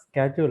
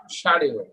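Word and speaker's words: schedule: না আমরা এটা গতদিন বলেছিলাম, এটা হচ্ছে স্কেজুল উচ্চারণ করবেন আমেরিকান, ব্রিটিশরা বলে শিডিউল, রাইট।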